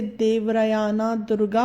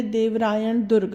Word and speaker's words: देवरायण दुर्ग: English में लिखा होने की वजह से हम इसे देवरायाना दुर्गा पढ़ते हैं, बट एक्चुअली यह एक कन्नड़ शब्द है जिसका एक्चुअल प्रोनाउंसिएशन है देवरायण दुर्ग, जिसका मतलब है देवराय का किला।